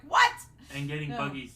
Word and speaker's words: Buggy: chapters later and you're like what and getting Buggy's name wrong for Luffy is just it's par for the course Boogie got me I was like I that was